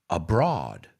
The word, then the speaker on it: abroad: I've heard students say abroad. And we don't say abroad. We say abroad, like Broadway.